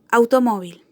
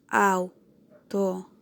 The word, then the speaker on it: automóvil: Por ejemplo, automóvil, automóvil, automóvil. ¿Dónde tiene el acento esta palabra? Automóvil. Tiene su acento en la penúltima sílaba.